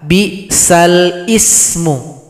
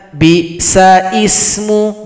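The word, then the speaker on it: بئس الاسم: Tidak boleh dibaca bi sa ismu, bukan ismu tapi lismu, li. Ingat li. Bi salismul fusuqu ba'dal iman.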